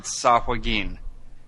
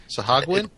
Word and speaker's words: Sahuagin: have been so it's how is it pronounced properly sahagin sahagin is how I have pronounced it and how others I have worked with have pronounced okay that's not to say that is the correct or original pronunciation uh so we're not